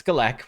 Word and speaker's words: Galek: supreme galek or yeah Supreme collect that's how you say it Gaelic or galek it's galek we've learned it's FL didn't